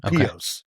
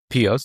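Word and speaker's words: Pihos: I think I think the H is silent. So, Pete Pio. Pio.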